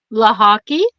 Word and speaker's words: Lochocki: Booker Booker um ly LA hockey like lacrosse and hockey beautiful all right that